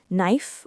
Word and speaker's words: knife: Yes, remember that the K is silent in no, and similar words like knife or night.